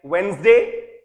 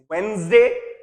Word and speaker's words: Wednesday: adjective, it's not adjective, just like Wednesday, it is not Wednesday, it's Wednesday, ठीक वैसे ही adjective है, adjective नहीं है।